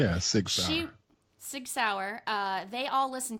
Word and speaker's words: Sig Sauer: Yeah, Sig Sauer.